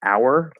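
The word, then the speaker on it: hour: And if you fully enunciate the H, some words have a silent H, like our. That's a silent H. There's no H there ever. Okay, don't pronounce that H.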